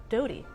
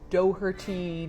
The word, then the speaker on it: Doughty: I am D O U G H which actually spells the word dough, T Y which spells tea, and yet my name is Dougherty, Yeah. any number of things, but You pronounce it Doughty.